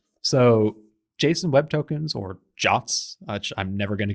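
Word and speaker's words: JWT: the Json web token or jot as we have discovered it is now pronounced uh a secret or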